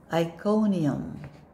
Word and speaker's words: Iconium: the first word in the third column go iconium iconium let's go to the next you read